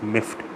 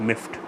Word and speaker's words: miffed: are not an already in pronunciation is miffed it's sound it's not ending with a deed for the pronunciation it sounds like a tea at the end it miffed so how do I